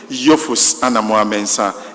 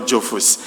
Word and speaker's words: Jophus Anamuah-Mensah: We've been taught how to pronounce the name correctly. So let us all take it. Yus Anamo Mensa and not Yofus.